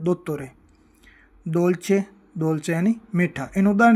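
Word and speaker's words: dolce: हैं इटालियन में दोतरतोरे दोलचे दौलचे यानी मीठा इन उदाहरण से आप समझेंगे कि डी का जो उच्चारण है वो द की तरह होता है दोचे दौलचे यानी मीठा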